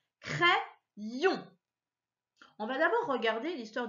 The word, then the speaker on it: crayon: Alors, tu vois, je vais jusqu'au bout du Y, C-R-A-Y, ça se lit cray. Et ensuite, yon. Alors, tu as vu, j'ai repris encore le Y dans ma deuxième syllabe. Crayon.